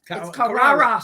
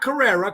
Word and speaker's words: Carrara: And not Carrera. Carrera is the glasses in the car, and it's Spanish. Nothing wrong with that, but I'm a Carrara. It's Italian. It's two different ways of pronouncing it.